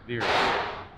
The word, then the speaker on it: Verus: is how you say it virus or verus veers please veers engineering swan neck wings yeah he's